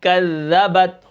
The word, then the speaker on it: کذبت: پڑھیں گے، ٹھیک ہے۔ کاف زال زبر کذ، زال زبر ز، کذ، با تا زبر بت، کذبت، وقفاً کذبت۔ اب کاف کو ہم